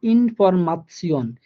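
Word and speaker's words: Information: যেমন ইনফরমাশন, এই ইনফরমাশন লাস্টে দেখেন আমার TION আছে, এই TION থাকার কারণে এটার উচ্চারণ হয়ে গেছে তসিয়ন, ইনফরমাশন।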